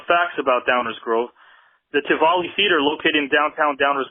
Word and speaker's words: Tivoli: It's pronounced the Tivoli Theater. Tivoli. Thank you.